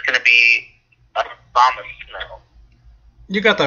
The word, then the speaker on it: Abomasnow: It's going to be Abomasnow. You got that right, Abomasnow.